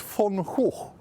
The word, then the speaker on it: Van Gogh: Well, how do you say it in Dutch? I don't In know. Dutch, it's Van Gogh.